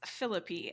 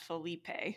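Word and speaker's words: Phillippe: It's hard enough reminding myself that it's Philippi and not Felipe.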